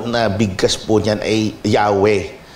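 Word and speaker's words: Yahweh: kaibigan Ito po ay popularly ah as mentioned yahwe yahwe ang talagang pronunciation Eh bakit ho hindi tayo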